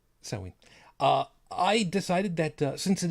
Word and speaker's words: Samhain: Hallows Eve, it is, I keep forgetting how to properly pronounce it. Apparently I've been saying it wrong all this time, the Wiccan version of it. Samhain, yes, thank you. Samhain.